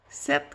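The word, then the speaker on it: sept: 7, qu'est-ce qu'il y a de spécial? Ben, le E, il s'écrit pas d'accent. Il y a le P qu'on n'entend pas. Le T, on l'entend.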